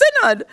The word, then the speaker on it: synod: Well, Everall wait down there on the phone or use the Sasha to say, that announcer is pronouncing that word wrong. It's synod. Well, once I learned that,